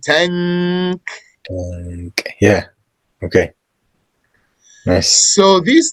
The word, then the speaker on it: tank: You don't say tank. You bring it from the back of your tongue. You say tank.